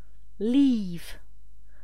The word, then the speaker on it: leave: Leave. Avec un i long, puisqu'il y a deux voyelles côte à côte.